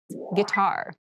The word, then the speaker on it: guitar: casual clothing casual clothing guitar guitar guar this word has kind of an interesting spelling it starts with GUI but we pronounce this as G so a guitar is